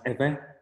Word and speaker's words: Ewe: have an epic figure so ewe pronounce eva and you'll find them